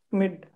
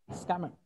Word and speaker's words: Schmidt: Schmidt. Okay, sir. Schmidt. Acha, okay. You are actually you're not pronouncing S.